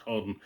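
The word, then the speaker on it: Hawarden: And the story involves Caradoc, who was a chieftain from Harden. It's spelled Harwarden, but it's pronounced Harden.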